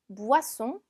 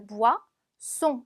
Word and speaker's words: boisson: 음료는 boisson, boisson. 자, 오이 붙으면 우아처럼 발음이 나요. 그래서 무아, 송, S 두 개니까 스 발음 나죠. 무아송.